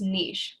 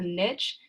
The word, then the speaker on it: niche: its home is called its niche you might also hear this called a niche either pronunciation is fine so an organism's niche